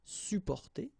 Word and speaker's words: supporter: You don't really pronounce the two or the double P here. Supporter.